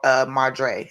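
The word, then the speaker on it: Madre: They call Mardre, I believe. I think I'm saying it right.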